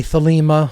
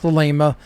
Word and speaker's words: Thelema: And then Thelema is with a long A sound in the second syllable, not Thelema.